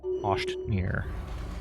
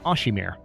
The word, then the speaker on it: Oshimir: And then I suppose you can hang out here until you're done taking Oshtmir, as I believe it's pronounced. Oh no, it's Oshimir. I swear, this font messes with my head.